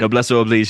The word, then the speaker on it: noblesse oblige: Noblesse oblige.